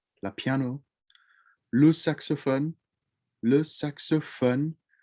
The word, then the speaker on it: saxophone: piano lu saxophone le saxophone remember with that french oh it's not phone it's fun suck so fun the saxophone love yolo